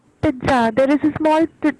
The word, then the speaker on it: pizza: So the pronunciation is जहाँ पे double Z आता है, because this is an Italian word. It is known as pizza. Pizza. तो Z जो है वो बहुत वो it is a very soft Z, and it is not